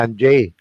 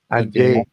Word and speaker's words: Angers: part Uh France yung ang they call it angers I pronounce it angers a n g e s pero sa mga French tawag nila anj anj yung cathedral doon halos pareho sa Cathedral yun